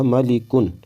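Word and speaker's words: مَلِكٌ: طرح کی جائیں گی: میم زبر ما، لام زیر لی، اب دونوں کو ملائیں گے تو ہوگا ملی، پھر کاف دو پیش کن، دونوں کو ملا دیا کن، جب پورے کو ملایا تو ہوگا ملی کن۔ اسی طریقے سے اس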